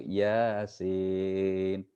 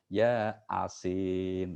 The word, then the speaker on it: Yasin: Itu kan biasanya A-nya double tuh karena panjang toh. Sin-nya juga double, I-nya panjang gitu kan. Tapi ada yang karena nggak belajar, nggak ajari guru, akhirnya bacanya apa? Ya Asin. Itu kan beda ya Asin gitu kan. Bukan Yasin tapi ya Asin kan beda akhirnya. Karena A-nya 2 toh dianggap dibaca dipisah. Ya Asin.